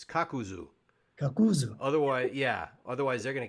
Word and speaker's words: Kakuzu: say yeah she said don't say kakazu it's kakuzu otherwise yeah otherwise they're